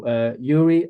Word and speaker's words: Gyuri: Well, it's actually Gyuri.